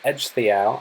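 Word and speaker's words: Ecgtheow: helped they lost ancestor edge the ow I know it's not how the name looks like it's pronounced but I promise that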